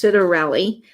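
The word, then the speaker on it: Scitarelli: there on the back I think it's pronounced citorelli I'll spell that for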